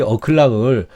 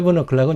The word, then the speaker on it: o'clock: 원래는 7 of clock인데 of를 정확하게 발음을 하지 않고 of clock을 연이어서 빨리 발음하게 되면은 F 부분이 이게 발음이 생략이 됩니다. 그래서 그냥 o'clock이라고 발음이 돼요. 그래서 우리가 이제 이 o'clock을 해석할 때 시다 해서 7 o'clock은 7시 이렇게 해석하는데요.